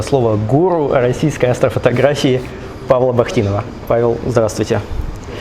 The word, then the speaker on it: Бахтинов: гуру российской астрофотографии Павла Бахтинова. Павел, здравствуйте. Я сразу же боюсь, прошу прощения, может быть, я неправильно ставлю ударение в фамилии. На первом слоге.